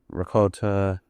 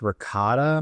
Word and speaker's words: ricotta: pesto, uh caramelized onions, ricott, correct? Yeah, I believe it's pronounced ricotta.